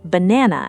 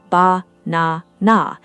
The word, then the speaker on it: banana: In many languages, learners naturally pronounce it with three roughly equal beats, ba-na-na, each syllable given fair and equal treatment. But in natural native English, the middle syllable completely dominates the word, banana, while the first and last syllables shrink dramatically, fading almost into silence, barely more than a breath.